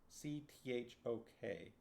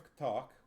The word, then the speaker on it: Cthok: C-T-H-O-K. Cthok? Cthok? I don't know. I'm going to pronounce it with more of a T.